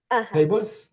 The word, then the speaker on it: Fables: en la novela gráfica se pronuncia fabes fables Bueno ahorita mar fables fables exactamente con la correcta pronunciación de la profesora de inglés eh voy a eh